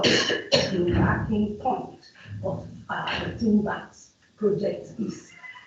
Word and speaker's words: TEENVAX: starting point of the TEENVAX project is. So the N and the X is just to make the acronym pronounceable so that we don't go TEENVA.